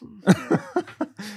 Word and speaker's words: Vetements: Look, I think the creative director of Balenciaga is still Demna Gvasalia, famously of Vetements, who has basically made his entire career. Pronounced Vetements.